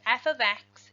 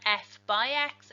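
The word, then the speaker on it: f(x): saying that correctly because it is not f by x it is not multiplication it is something very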